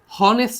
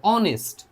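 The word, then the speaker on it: honest: দেখো বলছে অনেস্ট হনেস্ট না কিন্তু অনেস্ট যেহেতু বলতেছে অনেস্ট তাই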